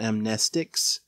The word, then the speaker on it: amnestics: is you're wrong about amnestics. And that doesn't sound right to me still. The word should be pronounced amnestics, but because it's a